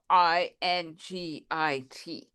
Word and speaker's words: Tlingit: So when you spell Tlingit, Uh-huh. it's spelled Tlingit. But here it's spelled Lingit. Uh-huh. But when you say it, it sounds like Tlingit.